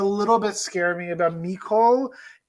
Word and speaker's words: Nicole: One thing that did a little bit scare me about Nicole, that's how you pronounce her name, Nicole.